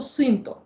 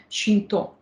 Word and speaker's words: Синто: коня в українській традиції ми чомусь слідом за російською опоністикою вимовляємо назву цієї релігії як сіль-то або синто в той час як самі японці вимовляється слово ближче до звучання чинто що ж це за